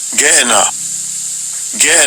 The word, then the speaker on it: Gehenna: Gehenna. So that's how it's pronounced, Gehenna.